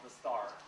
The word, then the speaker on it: Dastaar: We're going to be displaying a documentary today called Dastaar. Like look at the star. It's pronounced the same way, but it's D-A-S-T-A-A-R.